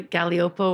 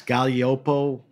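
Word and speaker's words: Gaglioppo: I mean, I would go to Galliopo, which we were talking to. Galliopo? Yeah. Nobody ever heard of that. No, spell it.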